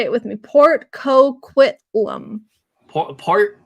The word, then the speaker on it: Coquitlam: Vancouver he is say it with me Port coquitlum part Coquitlam okay there we it's kind of like a